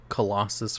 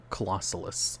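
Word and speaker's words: Clausolas: I called this thing Colossus for the longest time. I was saying it wrong. Colossalus.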